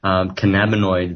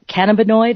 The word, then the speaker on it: cannabinoid: the using they can cannabinoid is that how you say it which is a molecule okay uh well yes principally that that's the